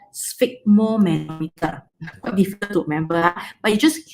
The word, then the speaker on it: sphygmomanometer: Okay, how to pronounce it? It's just as okay. Sphygmomanometer. The manometer, put it separately. Just say sphygmomanometer.